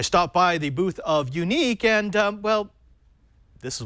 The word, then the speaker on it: Yuneec: Unique, spelled with a Y, is actually the second